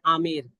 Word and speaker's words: आमेर: आमेर, इसका प्रोनाउंसिएशन है आमेर, ठीक है, अंबर नहीं है, आमेर स्टेट, ठीक है।